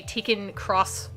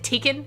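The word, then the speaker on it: Tekken X: helping me out here the x in the game is cross so you say taken cross street fighter is it tkin am i saying the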